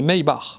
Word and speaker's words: Maybach: une Classe S Maybach maybar Mayback comme tu veux encore une fois sachez que Mercedes est une marque allemande et si tu vas sur Google Traduction et que tu demandes la prononciation c'est maybar une Porsche Panamera Turbo